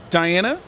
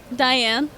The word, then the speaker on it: Diane: And on our way out, I came across this cosplay model who is currently playing Diana. Diane. Diane. See, I said it wrong.